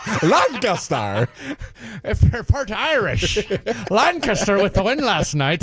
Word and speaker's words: Lancaster: Lancaster. Yeah. Just think of it like Lank. Aster. Like with a K instead of a C. Yeah, I think the C does. So it's like Lancaster.